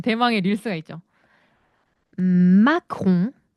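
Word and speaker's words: macaron: 마공. 마홍 예 마크홍은 프랑스 대통령 이름이고요. 마공은 디저트 이름입니다. 그래서 발음의 차이는 마홍 마.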